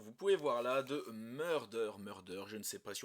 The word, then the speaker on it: Murder X Murder: cas de mon côté je suis de la team qui ne dit pas Hunter x Hunter mais Hunter Hunter donc je fais la même chose pour murder murder je ne prononce pas le X donc je sais que